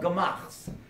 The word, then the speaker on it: Gemach: Now, Gemach is spelled Gimel, Mem, Ches.